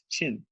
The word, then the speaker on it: Qin: become important very later Qi n is pronounced chin so the this chin